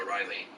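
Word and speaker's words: Ó Rahilly: Ronan, and I've heard Americans pronounce it O'Reilly. Yeah. It's spelled O, little accent, capital R-A-H-I-L-L-Y. And I heard him speak his name in court when they asked his surname, but he said it so quickly, it sounded like it sounded like a D, so it may just be like some weird, Irish pronunciation or something that I don't know about.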